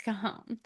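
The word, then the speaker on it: Cajón: It's Kahome. Anyway, well there's also I think it's a pronunciation.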